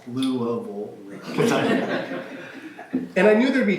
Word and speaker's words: Louisville: To me, it was just the way words naturally formed in my mouth, shaped by my upbringing in Louisville, pronounced Louisville.